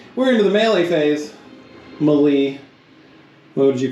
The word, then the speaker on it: melee: I call it melee melee I think melee is the way you're supposed to say it melee is just wrong if you say it like that you should feel bad anyway uh so just